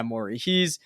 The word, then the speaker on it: Morey: Yeah, Morey.